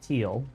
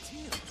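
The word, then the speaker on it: Thiel: In this case, it's teal, spelled T-H-I-E-L. I believe it's pronounced teal.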